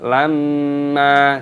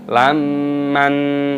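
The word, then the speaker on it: لَمًّا: Aklal lamma, mim tasdid dibaca gunnah berdengung, makanya didengungkan lamma, dibaca lamma, jangan dibaca lamman, salah.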